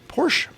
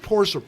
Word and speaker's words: Porsche: Now, is it Porsche or Porsche? Yes. I always say Porsche, but I've heard countless people say Porsche. I've always said it What was was it one Janis syllable. Joplin called it? Porsche. So there's 3 ways to pronounce it.